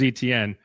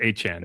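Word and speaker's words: Etienne: So we signed Travis, who I thought was ETN. He came in and said, "Hey, I want my name to be pronounced Achan now." Achan.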